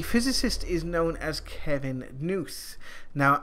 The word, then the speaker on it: Knuth: is known as Kevin noose now I'm assuming his name is noose and sis Island K otherwise it's kevinclu which I think it was more yeah it's more silent k to be perfectly honest